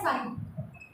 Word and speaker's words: psi: यहाँ पर क्या किया हुआ है हमने, यहाँ पर हम साइन, इसको ये जो सिंबल है इसको बोला जाता है साइन, PSI, बट P is silent when we are speaking.